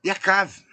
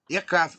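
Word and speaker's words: יעקב: que essa mesma letra, essas 3 letras, que ela diz que é Yakev, né, que é o que segura no calcanhar, ela também pode ser pronunciada como Yakav. Yakav.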